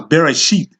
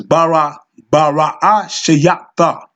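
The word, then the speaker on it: בראשית: So, within this first letter, this first word, Bara Shayata, which they pronounce Bereshit, but it's Bara Shayata, okay?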